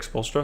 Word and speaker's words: Spoelstra: do you say his name is folster eric spoelstra yeah yeah uh is not pop he doesn't